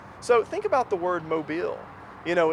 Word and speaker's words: Mobile: are saying mobile but the emphasis is on the second half it's mobile so mobile and also think about